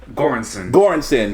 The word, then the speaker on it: Göransson: Göransson.